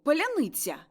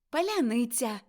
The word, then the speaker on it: паляниця: криницею цею е раптом скажіть улю Поляниця Уля паляниця Мокій так і вірно раз паляниця у вас